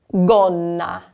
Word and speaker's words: gonna: So the fourth word we have here, G is followed by O. We also have a double consonant, 2 N's together. So gonna, gonna.